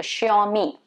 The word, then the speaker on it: Xiaomi: common again in india it's supposed to be xiaomi xiaomi okay me so sure me it's what you're supposed to be pronouncing it as